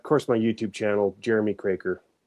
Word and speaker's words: Kroeker: my YouTube channel Jeremy Craker and it's a weird spelling. It's K R O E K E R but it's pronounced Kraker. That's how we say it in Manitoba.